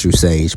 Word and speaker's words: True Sage: Yes, it's pronounced True Sage.